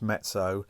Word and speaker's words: mezzo: lot of is m m is moderately it's pronounced mezzo so you'd have MP which is mezzo piano